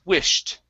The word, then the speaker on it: wished: have wished okay so this ed will sound like a t instead of wished it's wished okay good we have